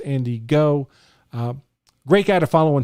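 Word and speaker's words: Andy Ngo: Now, this came to my attention by a Twitter post by Andy, I believe it's pronounced Andy Go.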